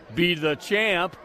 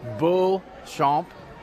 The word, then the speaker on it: Beauchamp: Okay, I believe this is Kaylee well, it's a French pronunciation. I told her I'd pronounce it Be the Champ, but it's Beauchamp, I believe is her name.